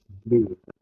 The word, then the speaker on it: blue: Blue. B, L, U, blue. The letter E in blue is silent.